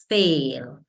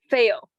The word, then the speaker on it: fail: feel that test so I want you to be careful with the vowel sound which is a fail fail good okay okay all right